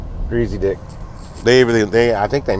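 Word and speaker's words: Griesedieck: Yeah, it was a it was a company called Greasy Dick. Wasn't per It wasn't spelled like that, but that's how it was pronounced. Greasy Dick.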